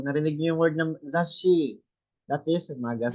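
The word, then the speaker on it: 雑誌: Pag narinig niyo yung word ng zashi, that is magazine. 雑誌。 So, dalawa po siya. No? May dalawa siya. Double consonant pronunciation siya. Zashi. Isang zas, isang shi.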